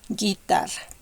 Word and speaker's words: guitarra: The u is not pronounced, but it's going to have the same pronunciation as the first vowels. Guerra, guitarra. Okay, you see, the u doesn't have a sound.